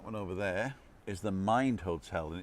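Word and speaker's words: Mynd: And the one across the road, that one over there, is the Mind Hotel, and it's spelled M-Y-N-D.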